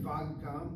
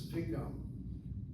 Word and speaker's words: וגם: Should it be vagam with a kamatz on the vav? And the answer is no, it's vigam.